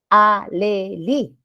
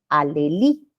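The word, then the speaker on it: alhelí: juntar no podemos hacer alelí Igual no cuando está entre consonante vocal tienen medio y no se pronuncia pues la H no alelí es como si no estuviera No ya igual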